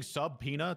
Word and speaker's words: subpoena: what are you saying subpena to piss me off yeah uhhuh I don't get it sub B is silent yeah Sub Sub subina